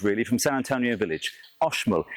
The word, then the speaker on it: Oxmul: Again, it's in the Kyo district just down the road really from San Antonio Village, Oshol. It's spelled Oxmol coffee, but it's pronounced Oshol.